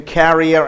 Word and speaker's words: carrier: What is the difference between carrier and carrier? C-A-R-E-E-R is pronounced as carrier, and C-A-R-R-I-E-R is carrier.